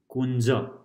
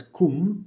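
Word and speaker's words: कुंज: So, Anchala, Kunja, Kunja. So, this is not pronounced as kum, it's kun, okay?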